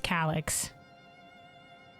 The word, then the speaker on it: Calyx: Also, thank God they pronounced this guy's name in a cutscene, so it's Calyx.